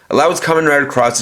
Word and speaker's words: Cross-Z: As you guys will see in the title, it's spelled out as Cross Z, but I'm pronouncing it as Cross, and there's a good reason for it.